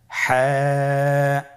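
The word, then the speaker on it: ح: হা হরফটি কিভাবে উচ্চারিত হবে? হা হরফটি উচ্চারিত হবে কন্ঠনালীর মধ্যখান হতে। গলা চিপে ধরে আপনি উচ্চারণ করুন।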